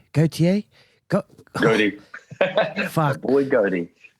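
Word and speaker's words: Gotye: Gautier? Goaty.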